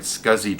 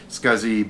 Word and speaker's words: SCSI: In this case, it's a 40 megabyte Scuzzy drive. Scuzzy being the way you pronounce the old acronym SCSI, or Small Computer Systems Interface.